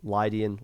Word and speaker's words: Lydian: themselves why oh wait i never pronounced that team name lydian lydian it's a musical term so i don't really have an excuse to not pronounce it correctly but they're here as